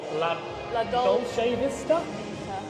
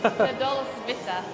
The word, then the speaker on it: La Dolce Vita: It's called La Dolce Vista. That is definitely not how you pronounce that, but yeah. La Dolce Vita. Dolce Vita.